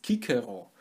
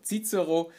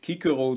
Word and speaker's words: Cicero: zu Kikero verfasst hat, die schreibtweise mit dem griechischen Buchstaben Kappa und das manifestiert auch noch einmal die Aussprache als Kikero. Trotzdem findet man in den Schulen oder auch sonst wo, wenn von diesem Mann die Rede ist, sehr häufig die Aussprache Zizero. Das hat sich sozusagen eingebürgert. Ich werde aber in diesem Video versuchen, es mit Kikero durchzuziehen, genauso wie man ja